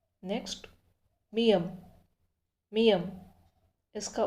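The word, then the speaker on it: 미음: Next मियम। मियम इसका उच्चारण होगा शब्दों में म।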